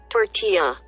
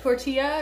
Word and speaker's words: tortilla: Tortilla. What? Kiev? Kiev, that's how you pronounce it? Kiev. Tortilla, not tortilla. They were shitting on me last time because I kept calling it a tortilla.